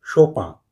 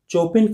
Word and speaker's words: Chopin: और कंस्ट्रेशन देख लीजिए कुछ लोग शोपिंग कहते हैं तो कुछ लोग सौंपा जगह के हिसाब से उच्चारण थोड़ा सा बदल जाता है लेकिन चोपिन कहना पूरी तरह गलत होगा मेरे उस्ताद में मुझे सौंपा कहना सिखाया था श्री कृष्णा शोभा